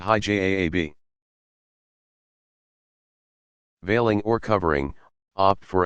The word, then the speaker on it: hijab: The majority of women who wear some form of special clothing, technically known as hijab, pronounced hijab, veiling or covering, opt for a headscarf down to the mid-forehead so that it covers all the hair.